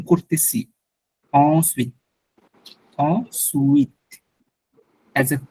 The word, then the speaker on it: ensuite: Thus, as a result, in that way, ainsi, ensuite, ensuite, আমি কিন্তু লাস্টে টিটা উচ্চারণ করতেছি, হ্যাঁ, এটা কিন্তু টিটা আমি উচ্চারণ করতেছি। ensuite, ensuite, as a তো